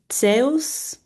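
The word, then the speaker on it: Ζεύς: Zeus is sales um sales.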